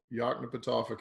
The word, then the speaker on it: Yoknapatawpha: county that I could never in my life pronounce the name of that. What is it? Yoknapatawpha County.